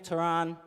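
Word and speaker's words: Tyrun: Again, if you just joined us, my name's Taran. Taran, T-Y-R-U-N. Don't ask me why it's spelled like that.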